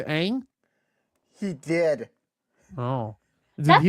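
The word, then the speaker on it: Aang: Night Shyamalan he used Ong instead of Ang?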